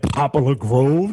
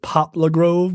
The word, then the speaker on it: Poplar Grove: off of edmondson and popular grove that cop don't live there i i don't i don't appreciate you pronouncing the full word it's poplar grove but you know whatever